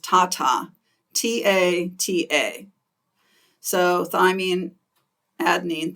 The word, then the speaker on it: TATA: one promoter sequence is we usually pronounce it just Tata ta ta so thyine